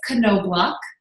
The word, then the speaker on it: Knobloch: It's Knobloch. I was totally not pronouncing it that way.